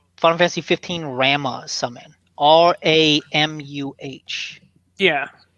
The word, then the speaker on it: Ramuh: I think it's Ramu. Ramu? Okay. Yeah. I've always pronounced the names of all the summons terribly since I was a kid, so... I know Ifrit, Shiva, Leviathan. I always thought just Rama.